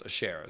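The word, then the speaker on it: Asherah: of the Canaanite goddess Ashera or Ashera it's aser is how you say it but Ashera is a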